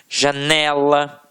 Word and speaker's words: janela: Reparem, cigarro, janela, lápis. Então, realmente, a sílaba que a gente proferiu com mais força sempre esteve na penúltima sílaba.